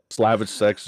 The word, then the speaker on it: Slavicsek: That is exactly how it's pronounced, is Slavicsek, if it's something Slavic sounding.